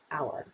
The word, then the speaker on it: AUAR: directors of automated architecture which we shortened to auar and pronounced as our our is an architecture